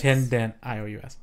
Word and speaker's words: tendentious: Tendent-I-O-U-S.